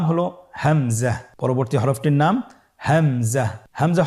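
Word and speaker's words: همزة: পরবর্তী হরফটির নাম হামজা। হামজা হরফটি উচ্চারণের ক্ষেত্রে বারিক করে উচ্চারণ করতে হবে এবং এখানে টেনে পড়া যাবে না।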